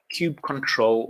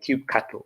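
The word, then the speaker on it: kubectl: we've got this tool called control or cube cattle depending on how you want to pronounce it and this is sort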